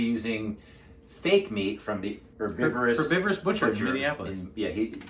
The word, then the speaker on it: Herbivorous Butcher: fake meat from the Herbivorous Butcher in Minneapolis. Dennis pronounced the H as if we were actually in England.